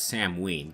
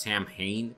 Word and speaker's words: Samhain: game I Dallas pronounced Samhain Samhain but know as Sam ween okay you're supposed to pronounce you pronounce the H as a W it's supposed to be